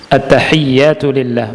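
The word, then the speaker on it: التحيات لله: At-tahiyyatu lillah, bacanya ya-nya ditasydid, at-tahiyyatu lillah.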